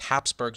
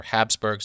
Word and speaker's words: Habsburgs: want to be by these Hapsburgs or Habsburgs depending on how you want to pronounce it they wanted their own